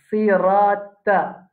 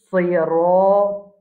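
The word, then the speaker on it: صِرَاطُ: Ça, to là, nous nous habitués prononcer comme ça. Sirata. Il n'est pas bon. C'est sirato.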